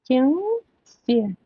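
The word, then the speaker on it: кеңсе: Кен се. Кен се через через обыкновенную букву и через н с хвостиком. Кенс. Кенсе и кин. Кенсе. Ударение, как правило, на последних словах.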